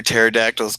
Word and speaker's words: pterodactyls: hey RJ yeah why can't you hear pterodactyls go to the bathroom I because the P is silent of course and this